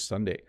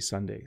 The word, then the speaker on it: sundae: So definitely it's ice cream with toppings, which is pronounced the same way as the day of the week.